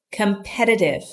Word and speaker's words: competitive: look competitive competitive notice when I say competitive the t's are pronounced like D's here competitive the synonyms of competitive